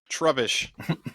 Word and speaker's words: Trubbish: Rubbish. Trubbish. It's trubbish. It's trubbish.